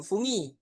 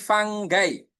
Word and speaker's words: fungi: Nah, untuk jamaknya apa itu? Bukan fungi ya, tapi fanggai. Jadinya bukan fungi, tapi fanggai teman-teman.